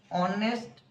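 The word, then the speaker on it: honest: जेमिति for example देखंतु ऑनेस्ट मैन अ होची एच थिले मध्य फास्ट रे अ उच्चारण होची एनु एन ऑनेस्ट मैन।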